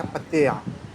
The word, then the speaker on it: Pattaya: मैं भी जब पहली दफा आया तो मैं भी इसको पटाया ही बोलता था क्योंकि इंग्लिश में लिखा पटाया आता है। तो लेकिन ये है पतया।